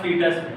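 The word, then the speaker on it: foetus: convert होगा उसके बाद फीटस, फीटस मतलब newborn baby, F फीटस, फीटस यही होनी चाहिए, ये होनी चाहिए, ये होनी चाहिए, नहीं ये सी, एफ ओ ई टी यू, ओ साइलेंट, थर्ड पॉइंट लिखना सेक्सुअल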